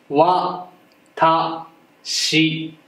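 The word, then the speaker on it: わたし: 、これの発音は、わ、た、し、で、わたしという意味です。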